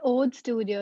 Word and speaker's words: Õde Studio: Yeah, so it's Ode Studio.